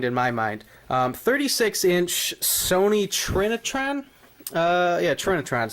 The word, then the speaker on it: Trinitron: 36-inch Sony Trinitron. Yeah, Trinitron's how you pronounce it.